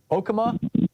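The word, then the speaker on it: Okemah: Deva in Okama, Oklahoma.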